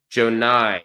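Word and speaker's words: Joie: Joe Nye. Okay. Joe Nye. All right. Got it. Joe Nye Broom. I've always pronounced it Johnny. I thought it was like an alternate spelling.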